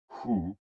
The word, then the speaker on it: hu: HOO, pronounced like hu, which is associated with the spleen, and XI, pronounced like shi, which connects the whole body.